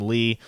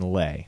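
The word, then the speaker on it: Leigh: john some of the some of the analysts call him lay some call him lee uh kelvin gilliam i go with what he said he said uh he pronounced it uh tristan lay so that's what we're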